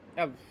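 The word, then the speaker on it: elf: এইটকে বলে হচ্ছে আক্ট, আক্ট, এটা আক্ট, উচ্চারণ হচ্ছে আক্ট। নাইনকে বলে হচ্ছে নয়েন। টেনকে বলে হচ্ছে জেন। এরপর ইলেভেনকে বলে হচ্ছে এলফ, এলফ, এলফ।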